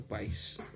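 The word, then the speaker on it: παῖς: o paciente é chamado pais palavra grega assim pronunciada que significava escravo o filho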